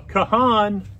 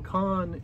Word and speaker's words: Kahan: up we got Noah Kahan nope it's Noah con it's spelled differently than it is pronounced Cape Elizabeth within six